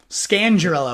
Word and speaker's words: Scangarello: Scangarello, I think is how you say this one.